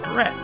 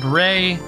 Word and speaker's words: beret: We will buy a beret. Yes, I know it's pronounced Bray.